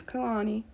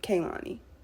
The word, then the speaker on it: Kehlani: didn't do that but her name is Kanani not Kalani just FYI I'm a